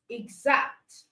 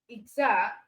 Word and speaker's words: exact: But for GZ, you have words like exam, exact. Okay. You have words like exam, exact.